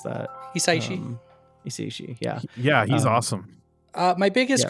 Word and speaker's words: Hisaishi: Yeah, it was Joe Hisaishi. How do you pronounce that? Hisaishi.